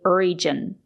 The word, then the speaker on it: region: It's not correct to say region. We have to say region. We have to use the J sound, not the sound. Sometimes the letter G is pronounced with a sound, but not in this case. we have to say region with a juice sound like in juice and jump.